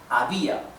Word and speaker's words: había: Había is an hiatus because although there are 2 vowels together as in the diphthong, however, when we separate in syllables, it's like this, a, b, a. So these 2 vowels that are together, they are separated when in syllables, right? They both belong to a different syllable.